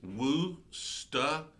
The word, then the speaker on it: Worcestershire: According to Google, it's Worcestershire.